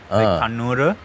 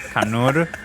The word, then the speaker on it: Kannur: Because I added the U at the end, a lot of people say ru, like a really wrong ru, whereas I was going for more the sound of like Kannur kind of vibe.